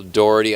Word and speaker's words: Dougherty: I feel like it's Dougherty because I feel like it's Dough. But I pronounce that word dough. Okay. Some pizza dough.